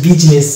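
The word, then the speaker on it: business: Parliament অনুরূপ শব্দ এটা বিজনেস, এটাকে আমরা বিজনেস বলি না, এটা হচ্ছে বিজনেস, এখানে আই কিন্তু সাইলেন্ট থাকছে।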